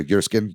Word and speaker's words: Jerskin: And I actually am becoming a big fan of Jerskin Fendrix or Yerskin probably is how you pronounce it.